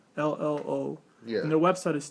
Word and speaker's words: Trello: Am I pronouncing that right? That's what it is, right? Yeah, I'm pretty sure that's how it's spelled, or that's how it's so said. It's Trello.